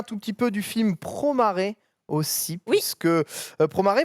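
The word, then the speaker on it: Promare: ont été affichés alors promart et que moi je prononce promet à parce que bizarrement katakana c'est comme ça que ça s'écrit c'est donc le tout nouveau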